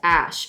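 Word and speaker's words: Æ: a child you know the a is pronounced Ash oh I see X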